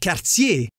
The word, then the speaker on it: Cartier: By the way, Jacques Cartier is pronounced Jacques Cartier in my neck of the woods.